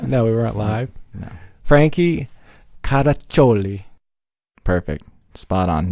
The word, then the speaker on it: Caraccioli: weren't live yet no we weren't live Frankie how to chole perfect spot on not everybody knows how to pronounce yeah correctly it's not anything else with